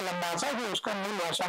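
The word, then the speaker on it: Labasa: नाम है लंबासा में उसको एल ए बी एस ए लिखते है लेकिन बोलते हैं लंबासा उसका मूल भाषा में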